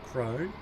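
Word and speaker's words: Krone: My other favourite brand, Crone, or Corona, as Jerry pronounces it, which is I think is technically the correct way of pronouncing it.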